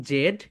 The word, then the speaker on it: Z: এখন দেখো my dear soldiers, তোমরা এখানে যে জেড দেখতে পাচ্ছ, এটার দুইটা প্রোনাউন্সিয়েশন আছে, একটা হচ্ছে ব্রিটিশ, একটা হচ্ছে আমেরিকান। সো ব্রিটিশরা তো তোমরা জানো ব্রিটিশরা জেড বলে, রাইট? অ্যান্ড আমেরিকানরা বলে জি।